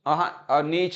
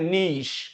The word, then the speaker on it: niche: Word दे दूं NICHE, तो ये नीच नहीं कहना है इसको, ठीक है, इसको बोलते हैं नीश।